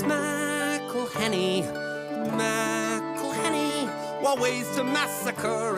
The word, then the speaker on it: McElhenney: It's McElhenney. McElhenney. What ways to massacre and mispronounce it, there are many. McElhenney. It's McElhenney. McElhenney. McElhenney. McElhenney. If there was doubt, now there won't be any.